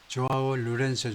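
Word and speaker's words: João Lourenço: 조아오 루렌소 정도로 발음을 하는데 has continued to visit far off destination.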